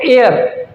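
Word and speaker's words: heir: अब कभी कभी एच साइलेंट होता है, अब इसको पढ़ते हैं एयर, तो एयरएस मतलब उत्तराधिकारी, एच इसमें साइलेंट है, ए की आवाज आई है।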